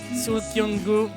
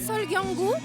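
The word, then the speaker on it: 설경구: Soo Kyung-gu, Im Si-wan. Vous pouvez pas m'aider pour la prononciation de leur nom? Donc ce sont les acteurs Sol Kyung-gu, Im Si-wan, Kim Hee-won et l'actrice Chon Hye-jin.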